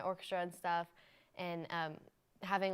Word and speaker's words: Hawaii: you like to start yeah so it's not pronouncing Hawaii it's pronounced Havi so it's also not Honolulu it's Honolulu it's